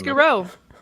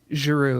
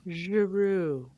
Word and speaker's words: Giroux: Giroux. It's French Canadian. Giroux.